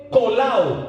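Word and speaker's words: κολλάω: Y la palabra une ahí es la clave, porque la palabra une viene del griego kolao, se escribe kollao.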